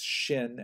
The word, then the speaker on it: shin: For example, the letter, which in Hebrew is shin and is pronounced in English with the sound sh, you know, pronounced together,